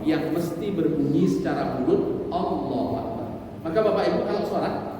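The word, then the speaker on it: الله أكبر: contohnya begini Bapak Ibu Allahu akbar ini kan panjang jadi Takbiratul Ihram itu justru tidak dianjurkan untuk membacanya dengan panjang betul pada lamnya lafaz Allah itu dibaca panjang cuman dengan panjang yang sederhana Allahu Akbar itu yang dianjurkan Kenapa kemudian tidak panjang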